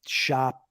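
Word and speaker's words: Schopp: talk uh but but I'm wondering if if Shop people his name is is pronounced shop but now that you've met now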